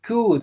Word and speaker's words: could: utilizar que es el could no no se dice co Aquí está co u no se dice solamente Suena la no Y la d sea Suena la c la u y la de listo vamos a ver